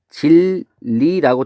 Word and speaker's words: 진리: 진리라고 돼 있을 때 얘는 발음이 진리라고 돼서 뭐가 뭐로 바뀌었어요? 그렇죠. 니은이 리을로 바뀌었어요. 그럼 이런 거를 뭐라고 했죠, 우리는?